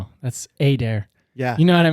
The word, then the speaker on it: Adair: The older I got, it's just like, nah, man, it's Adair. And they'll leave out the I. They'll be like, Mr. Adar, and I'm like, close, but you left that entire letter.